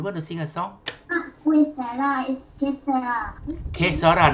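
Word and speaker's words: que sera: Kesara, not Yesara. Kesara, Q-U-E, correct, Mukri. I say Yesara wrong. Q-U-E, Sarah, S-E-R-A.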